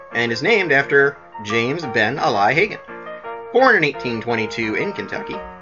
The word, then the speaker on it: Ben Ali: there that may think the race has actually pronounced the Ben Ali no not that Ollie although both are person and the greatest ever were born in Kentucky it actually pronounced then a lie and is named after James been a lie